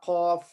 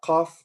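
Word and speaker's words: ق: We have, in those 30 letters, we have some letters they will always be pronounced or read with full mouth. When you're pronouncing those letters, your mouth would be, it's like there's something inside your mouth. Your mouth is full.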